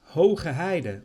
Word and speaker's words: Heide: which is what it's called named after haida haider or high heath there is a lot of